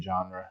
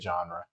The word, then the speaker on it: genre: about the word genre this word comes directly from french in french you pronounce it genre in english you pronounce it genre and it means a